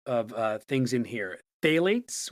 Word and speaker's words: phthalates: Phthalates, which is spelled phth a l a t-s, that is a large group of compounds used as liquid plasticizers.